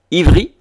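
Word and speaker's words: עברי: Ivri en hébreu, ou Ibrim, qui est fils d'Héber, donc le V pouvant se prononcer également B. Donc V, B en hébreu c'est la même chose, on le retrouve en espagnol.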